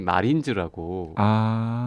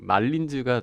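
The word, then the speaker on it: Marlins: 그래서 어떤 사람들이 굳이 이거를 마이애미 마린즈라고 발음하는 분들이 있는데 왠지 그 마린보이 같은 뭐 바닷가에 있는 있으니까 사람들이 마린즈라고 생각하시는 분들이 있는데 그건 말린즈가 정확한 표현이죠.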